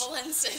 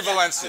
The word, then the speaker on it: Valencich: Valencich. That's what I said. I'll be too. With the guys, we can't pronounce last names.